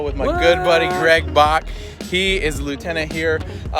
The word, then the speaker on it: Bock: That's Lieutenant Brock. Lieutenant Brock, right? yeah. That's a little inside thing. Some people getting his name wrong, but that's all right. It's Lieutenant Bock. No R, just right. Bock.